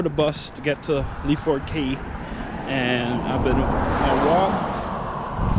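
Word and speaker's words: Lyford Cay: That's how you say it, Lyford Key.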